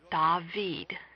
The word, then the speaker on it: David: a under the consonant in Hebrew it is pronounced dahveed please read along dahveed